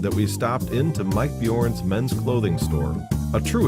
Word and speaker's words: Bjorn: Do you know how many people don't know how to pronounce Bjorn? Bjorn. Bjorn.